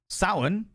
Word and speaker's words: Samhain: It's spelt Samhain, but it's pronounced Samhain, which is a Celtic tradition.